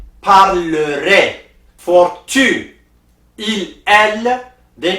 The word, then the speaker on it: parlerai: So for je and vous, they pronounced parlerai. For tu, il, elle, they pronounced parlera. For nous, il, elle, plural, they pronounced parleront. So for je, AI is pronounced A.